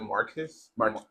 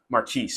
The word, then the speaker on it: Marques: so, Mark, is it Marcus? Marquise.